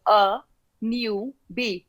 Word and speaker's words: Anubhi: so they call the how everyone remembered my name in in the uk was a new be like a newbie in a place okay